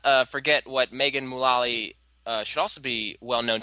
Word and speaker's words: Mullally: I've heard it pronounced both ways, but I go with Mullally, so I'll stick with that.